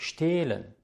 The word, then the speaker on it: stehlen: Das H, wenn es nicht am Anfang eines Wortes steht, sondern in der Mitte, wird nicht ausgesprochen. Das bedeutet, der Vokal davor, zum Beispiel hier das E hier und das E hier, wird lang ausgesprochen. Es ist stehlen, sehen, gehen. Es ist nicht stellen, säen oder gähen. Das H macht den Vokal lang, nachdem es steht.